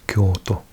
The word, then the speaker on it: Kyoto: So if I say for example you if I was saying this word Kyoto in Japanese is Kyoto because this is on the O so it makes the O longer.